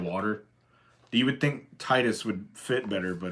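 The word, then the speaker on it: Tidus: in Final Fantasy 10 how do you pronounce titus's name I just told you how I pronounce it because it makes way more sense to say Titus given the the nature of the game and the box art is very oceany and very blue and there's a lot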